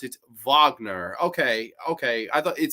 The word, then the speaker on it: Wagner: Grani, you pronounce it Wagner. Okay, okay. I thought it said Wagner up here.